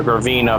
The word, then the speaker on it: Gravina: say gravina yeah my bad I mispronounced Sal's mafia's name the graina family I said graani like yeah